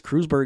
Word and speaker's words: Kreuzberg: and the song is i believe pronounced kreuzberg or crewsberg okay it is crewsburg is a city in